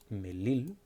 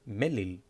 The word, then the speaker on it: melil: For example, here, melil, it's not melil. It's not emphasized on the first vowel. It's melil. The symbol is in the second one.